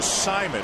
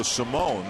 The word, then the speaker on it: Simon: right-handers have been throwing that's Alfredo Simon and no longer going by the pronunciation of Alfredo Simone that he went by into Baltimore JJ Hoover was up